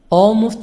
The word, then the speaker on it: almost: Always, almost always L silent.